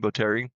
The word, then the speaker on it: Botteri: And we have again Jennifer Botteri on the hill, and I talked to Jennifer because there's different pronunciations of her last name, Botteri. And that's how she pronounces it.